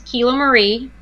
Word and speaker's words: KiloMarie: help me out make sure I get name pronunciations exactly right before we jump in here so my first name is kilo Marie and last name is and if it's